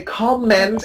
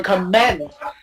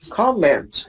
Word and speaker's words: comment: It's stress on the first syllable. Excellent. Yeah. Comment. Yeah, please. Very good. Please always say comment and never comment. Facebook. On Facebook, people say, please comment on my face. No, not comment. Comment.